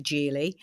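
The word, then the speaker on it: Geely: for a long time, we were unsure if this company is a Gilie or a Gili. And even people within the company were slightly unsure as well because we heard it pronounced different ways, but it is indeed Jie.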